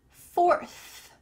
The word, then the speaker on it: fourth: Fourth, fourth, having a TH at the end of words sometimes trips up English learners, so here's your chance to practice it. Let's say it, fourth, fourth. Notice, my tongue is between my teeth here.